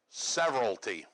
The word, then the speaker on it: severalty: it's going to sound funny because it's called severalty alright so everybody say several T that's how it's pronounced alright while several sounds like many that's